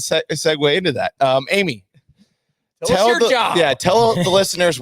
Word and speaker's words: Amie: uh my name is Amy just uh but I spell it a little weird it's Amy a m i e It's Not Annie It's not Arie uh as some people have called me Arie Arie how often do